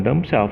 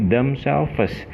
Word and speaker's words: damselfish: jamaah daripada dem Sabtu bukan domsel tapi damselfish jadi damselfish itu harus